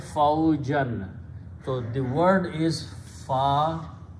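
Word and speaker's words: فوجًا: It become faujan, and whenever we paste two zabars or two fathas, we add an alif, which is not spoken, pronounced, so it becomes faujan, which is the word in the Quran.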